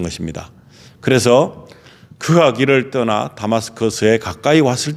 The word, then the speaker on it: 다마스커스: 우리가 흔히 알고 있는 다메섹이라고 하는데 이 다메섹은 한국식 발음이지만은 다마스커스라고 지금도 불리고 있는데 그 다마스커스로 갑니다.